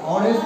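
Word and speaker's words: honest: एच एच एच पण याचा उच्चार अ वर होतो याचा ऑनेस्ट होतो आणि याचा हॉर्स होतो काय होतो?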